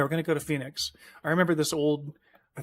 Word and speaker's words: Phoenix: something to Phoenix, but he doesn't know how to pronounce it, so he calls it Pahunix. And that's always stuck with me. That town name is Pahunix.